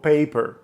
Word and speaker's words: paper: трошки розбавити приголосні наприклад Візьміть слово Paper наголошений склад в нас Pay а кінець слово Per Ми можемо поставити п